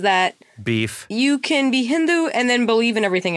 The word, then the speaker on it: Hindu: Because I don't say it with a hard D. I say it with a the. Hindu. Yeah, Hindu.